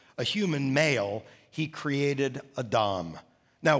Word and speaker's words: Adam: human male he created a dom now we would pronounce that name adam in english but it's a hebrew word that's pronounced adam stay with me so